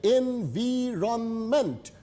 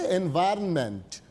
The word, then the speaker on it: environment: এনভায়রনমেন্ট স্পেলিংটা কিন্তু খেয়াল করবে, এনভিরনমেন্ট স্পেলিংগুলো খেয়াল রাখতে হবে। হ্যাঁ, উচ্চারণ হবে এনভায়রনমেন্ট। ওয়েলফেয়ার মঙ্গলদায়ক।